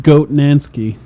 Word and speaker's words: Wojnansky: Yes, and that is Jacob Hernansky is how I assume he pronounces his I think last it's name. pronounced Goat Nansky. Okay, so Goatnansky.